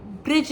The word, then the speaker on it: ब्रज: ब्रिज जो जिस जगह का नाम है, और उसको ब्रज भी कहते हैं, बिरज भी कहते हैं। तो वो थोड़ा प्रोनाउंसिएशन का डिफरेंस आ जाता है डिपेंडिंग ऑन कौन से सेक्ट में या कौन से स्टेट में वो चीज़ बोली जा रही है।